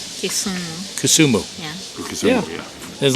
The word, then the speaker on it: Kisumu: Kasumi? Kisumu.